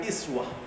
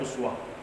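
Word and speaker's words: أسوة: Uswatun itu adalah teladan para ulama qiroat ada yang membaca ayat ini dengan iswah jadi Uswatun itu hanya Imam Hasyim yang membaca dengan Uswah tetapi kebanyakan ulama itu membacanya dengan iswah tetapi maknanya sama karena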